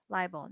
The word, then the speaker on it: libel: under the larger umbrella one is liable libel not not just two syllables libel and this is defamation